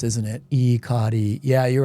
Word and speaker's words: Ikari: Ikari Warriors says what?